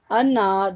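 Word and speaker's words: النار: You are not pronouncing al due to the shad on the noon. Okay, so it is an, because you are joining alif with the noon.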